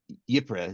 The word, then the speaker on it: Ypres: Ypres is how I was told to pronounce it.